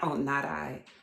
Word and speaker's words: Nani: My nickname is Nani, pronounced not I.